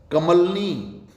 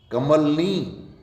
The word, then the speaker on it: कमलिनी: कमलनी, कमलनी नहीं, अशुद्ध है। कमलिनी, कमलिनी, कमलिनी।